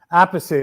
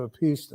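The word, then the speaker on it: Appice: martel and carmine and apacie at the time he changed the pronunciation to a piece yeah in later years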